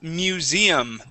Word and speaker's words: museum: go to the word Museum uh the accent is at the end of of the word Museum so on that e museum museum museum one